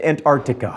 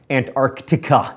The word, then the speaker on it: Antarctica: on every continent except Antarctica Meritt says that I pronounced Antarctica wrong there's a c in there so I'm sorry Antarctica anyway in the US